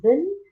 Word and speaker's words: been: You should say she, he, and it combines with has plus been plus verb plus ing. Okay, now ben is just been, like dustbin. Okay, it is been.